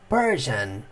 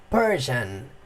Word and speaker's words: Persian: Persian, Persian. Esse S aqui, ele acaba ficando com um som de J. Fica muito estranho, né? Mas ó como que o personagem fala. Persian or Greek, Persian or Greek, Persian or Greek.